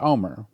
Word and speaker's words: Olmert: The t is silent and the l is silent. So, it's pronounced and I've heard it pronounced that way by Israelis or Jews. Former Israeli Prime Minister Omar, we need not just